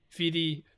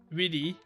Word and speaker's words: vidi: So we would read this in English as veni, vidi, feci, right? But a V in Latin is pronounced as a W. So this would be Winnie, Widdy, Wedgie, as in a wedgie.